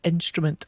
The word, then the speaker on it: INSTRMNT: They're called Instrument Applied Design, but it's spelt funny. It's INSTRMNT.